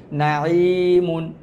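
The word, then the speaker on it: نَعِيمٌ: তারপর আছে নুন জবর না, আইন ইয়াজের ই, নাঈ, মিম দুই পেশ মুন, এটা হচ্ছে তানবিন, নাঈমুন, নাঈমুন।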